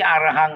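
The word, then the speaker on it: arahaṃ: of, okay, itipiso bhagava arahang. Maybe arahang lah. Arahang is short A, short A, short A.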